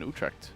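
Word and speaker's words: Utrecht: but we're also having the EU team in Utre. Yeah, the pronunciation there, Jack.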